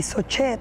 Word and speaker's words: Sochet: Y de ahí viene el apellido Singer, austriaco, y Sochet, que es como nosotros lo pronunciamos, que en realidad deriva del apellido Sojhet, que es el apellido polaco.